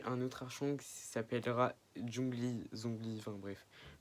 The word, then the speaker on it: Zhongli: Vous allez rencontrer un autre archon qui s'appellera Zhongli, enfin bref. Prononciation chinoise, Zhongli, pardon.